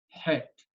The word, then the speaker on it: Het: Chet sounded like het. Het. It's in the throat. Het. And chaf is in the upper part of the throat. Het is down here, and chaf is up here.